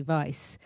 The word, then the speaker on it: Weisz: to my agent and I changed the spelling to um v y c to spell phonetically Vice and my agent um